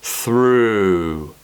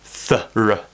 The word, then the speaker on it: through: the tongue curl back through through and the mouth gets round through and we don't want fur and we don't want thorough thorough we want through okay relax it's a